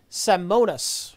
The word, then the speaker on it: Simonis: job as strangers pronouncing my last name fYI it said Simonis hey you did it good job you two you absolutely pronounced it correct MLG free man die